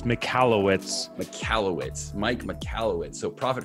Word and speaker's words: Michalowicz: So it's Michalowicz.